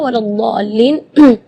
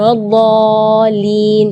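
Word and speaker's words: ولا الضالين: Di kalimat ini juga waladdallin yang perlu diperhatikan adalah madnya juga. Mad di situ kita harus panjang membacanya 6 harakat, karena di situ hukumnya mad lazim kalimi mutsaqqal. Jadi membacanya siti harakat, 6 harakat. Terus setelah waladh di situ ada huruf lam yang ada di atasnya ada tasydid. Itu seringkali ketinggalan waladhdallin. Nah, itu berarti tidak ada tasydidnya.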